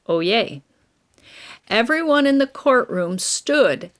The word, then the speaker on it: oyez: open the court session oh yay means hear ye it's pronounced oh yay everyone in the courtroom